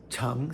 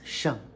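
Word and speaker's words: 乘: This Cheng, second tone, can also be pronounced Sheng, but for different uses, different purposes.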